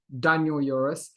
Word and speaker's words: Daniel Yores: episode i have a guest with me called daniel euris i ever pronounced that correctly you did okay and uh